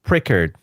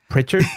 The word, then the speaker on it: Pritchard: Uh, Devon Prickard. Uh, well, I think it's Devin Pritchard. Sorry. Pritchard. Okay. Pritchard. Yes.